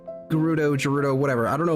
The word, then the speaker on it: Gerudo: Did I say Gerudo? I usually say Gerudo with a soft G. Who has corrupted me? The second pronunciation is correct.